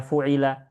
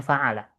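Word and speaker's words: فَعَلَ: Jangan dibaca fu'ila. Tapi kita bacanya fa'ala.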